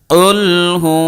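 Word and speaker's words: قُلْ هُوَ: নাউজুবিল্লাহি মিন জালিক কিন্তু বড় কাফ দিয়ে যেভাবে আছে যদি সঠিক উচ্চারণ করি তাহলে অর্থ হবে কি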